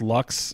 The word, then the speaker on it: Loucks: I don't know him very well, so my I want to say it's Lux, Loucks. It's Loucks. Yes, yeah.